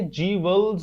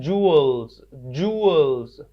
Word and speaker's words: jewels: इसे आपने जीवल्स नहीं पढ़ना, इसे आपने पढ़ना है जूअल्स।